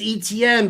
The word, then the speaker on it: Etienne: You know, it's like it's Etienne, but like you want to want to slap a little Cajun on it, right?